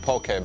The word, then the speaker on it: poke: to hawaii to make this beautiful and colorful poke ball poke is pronounced po k which means to cut crosswise